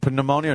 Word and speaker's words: pneumonia: Okay, pneumonia. No, the P is silent.